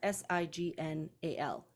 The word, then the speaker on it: signal: in this particular case in Signal we have a break in the syllabication there right and so um